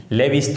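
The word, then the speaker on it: Lewis: अब जो तीसरी थ्योरी है हमारी, लेविस थ्योरी या लुईस थ्योरी बोलते हैं उसको, ठीक है। लेविस थ्योरी, लुईस थ्योरी दोनों नाम से प्रोनाउंसिएशन करते हैं अलग अलग जगह पे, तो यहाँ पर हम लुईस सिद्धांत बोलते हैं इसको।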